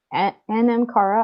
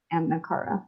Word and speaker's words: NM Kara: But this one, NM Kara, I keep wanting to call it M Kara. That's not how you say it though.